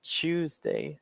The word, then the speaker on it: Tuesday: So in a British standard way, you could say on Tuesday. They have a bit of a CH noise when it comes to TU.